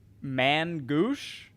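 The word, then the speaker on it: Main-gauche: It is pronounced, and I am not kidding you, Mangoosh. I don't like it. It's French for left hand. Mangouche.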